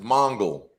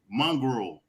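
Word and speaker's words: Mongul: hey is del pontion it's mongol yes mongol there it is mongrel no mongol matter of fact if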